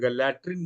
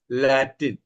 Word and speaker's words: लैटिन: spelling गलत मत लिखिए वो आर मत जोड़िए लटन मत लिखिए लैटिन एल ए टी आई एन है ना कुछ लोग लटन भाषा बोलते हैं ऐसा नहीं लैटिन लातीन भाषा जिसको कहते हैं लातीन